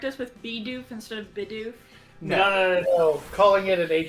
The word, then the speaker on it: Bidoof: But I absolutely am going to correct the kid at school that calls it Bidoff.